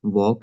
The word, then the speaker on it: walk: Here in silent L, like in talk, walk, and half, all of these words have silent L.